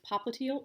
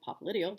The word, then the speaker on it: popliteal: of the groin there's popliteal or popliteal depending on your pronunciation behind the knee there's